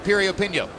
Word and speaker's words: Piriyapinyo: Once again, the name begins with a P, but it's pronounced Piriyapinyo.